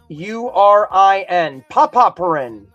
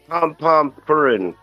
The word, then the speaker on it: Pompompurin: It's spelled Pompurin. Popopurin. Pooperpurin? Pompomurin. Yeah. Pompompurin.